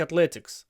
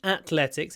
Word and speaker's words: athletics: I I really like Athletics it's not Athletics it's Athletics with a th so tried to do a nice th in your Athletics th th that's a